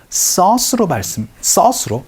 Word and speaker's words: sauce: 소스가 아니고 sauce로 발음해 주셔야 된다는 것도 같이 기억을 해주시면 좋겠네요.